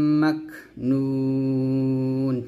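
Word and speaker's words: مكنون: কারীম ফি কিতাবিম মাকনুন মিম calf জবর মাক humps উচ্চারণ করবেন ফি কিতাবিম মাকনুন আমরা এখন অনেক বলি মা কো নুন বলি তো মা কো বলা যাবে না বলতে হবে মাক কাফটা হামস হবে তবে কলকলা করা যাবে না একসাথে ফি টান দিবেন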